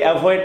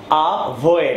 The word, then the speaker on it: avoid: রাখবেন so let's get started so এভয়েড আগে উচ্চারণটা আমরা ঠিক করি এভয়েড না এভয়েড আভয়েড আমার এক্সেন্ট ক্লাসটা করলে আপনি অবশ্যই জানেন ভি